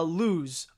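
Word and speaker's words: Luz: adventures with superman eh also it's pronounced uh lose oh sorry about that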